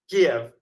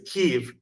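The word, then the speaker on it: Kyiv: K right you know the old way of saying it was Kev and now the new modern Ukrainian way is keev and I go back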